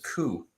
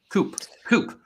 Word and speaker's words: coup: uh stacking limit said coup coup I think it's cool I don't think you pronounced the P we I do not